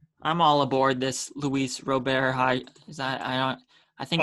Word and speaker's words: Robert: I'm all aboard on this Luis Robert hype train. I think that's how you say his name, Robert, not Robert. I think it's Robert.